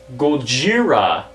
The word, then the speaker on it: Gojira: right now next up Gojira it's not racist that's how the Japanese pronounce it and these guys